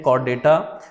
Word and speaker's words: Caudata: जबकि दूसरी क्लास जो है उसको हम नाम देते हैं कॉर्डेटा, CAUDATA। ये स्पेलिंग आप लोग याद रखेंगे।